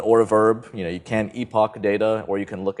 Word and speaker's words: epoch: fields call epoching and yes I know there are many many ways to pronounce this word epicing but most of us say Epoch it's just sort of the the standard so you can use